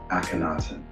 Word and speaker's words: Akhenaten: The king carved it off his monuments and replaced it with a new one, Akhenaten. Effective for the Aten, 4 syllables, and the covenant was broken.